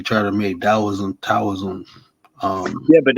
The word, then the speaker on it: Taoism: the tea in China for some reason T is pronounced as a d yeah but you know he is really a d when I say taoism his Towers but you